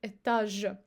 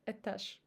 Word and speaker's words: этаж: And now we say друг, обед и этаж. Now before another unvoiced consonant. Ложка, водка и лавка. As you see, we don't say ложка. So we pronounce sh instead of zh because of k.